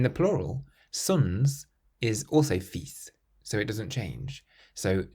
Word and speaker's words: fils: The word son in French is fils, fils.